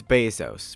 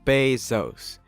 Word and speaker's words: Bezos: to sell books well first of all it's Bezos pronounced Bezos and secondly they still sell books a whole